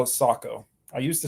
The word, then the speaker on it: Sako: oh nice do you pronounce it do you pronounce it Seiko or Sako I now call it Sako I used to say Seiko yeah it's a Finnish brand right so they